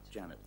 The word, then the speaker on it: Jeanette: I know it's spelled Jeanette, but you like to pronounce it That's right. Janet.